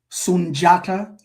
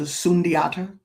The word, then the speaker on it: Sundiata: Sunjata as opposed to Sundiata.